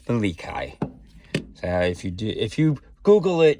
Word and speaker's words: Melik: So I did not know that it was pronounced Malikai. I thought it was, I tried to do an American pronunciation, and Melik. So it's Malikai.